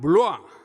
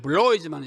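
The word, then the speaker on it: Bloy: 그 다음 두 번째는 레옹 블루아, 영어로는 블로이지만 이게 블란 사람이니까 블루아 이렇게 읽어야 맞습니다.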